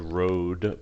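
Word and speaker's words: rood: this oral tradition yeah you could call it road but rude is usually the way we would pronounce it it's just a pole or a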